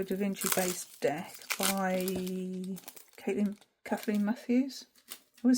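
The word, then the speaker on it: Caitlín: I think that's pronounced Kathleen Matthews, not Caitlin. As I've said many a time, Caitlin, but I'm sure I saw somebody point out that it's actually Kathleen.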